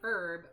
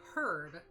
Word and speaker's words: herb: so my favorite is you say herb we say herb because it has an f h in it i was like ah